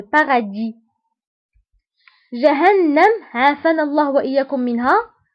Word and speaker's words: paradis: الجنة بالفرنسية هي le paradis. Le paradis. Le paradis. وتكتب اس في آخر الكلمة ولكن لا ننطقها. Donc le paradis.